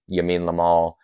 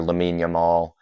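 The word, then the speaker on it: Lamine Yamal: left to help de Marco out with uh Yamin Lamal um or Lamin Yamal, sorry, I always forget how to pronounce his name.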